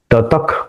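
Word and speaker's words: ततः: ततक कुरु यह जो विसर्ग है उसका उच्चारण स्लाइट ख से होगा क्योंकि यहां क है हमने वो स्लाइड देखी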